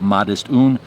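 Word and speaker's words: Modest Une: It's called Modest One. It's spelled in French, so they call it Modest Un.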